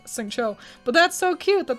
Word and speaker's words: Xingqiu: I said his name wrong. Xingqiu.